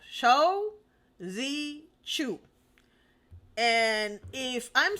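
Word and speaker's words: Shou Zi Chew: sound like an idiot Shu no show Z Chu and if I'm saying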